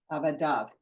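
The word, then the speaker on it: עבדיו: Okay, again, kamatz yud vav pronounced without the yud. Avadav, his worker.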